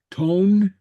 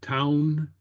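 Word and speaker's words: tonn: Tone. Tone. Tone. Or town. Okay.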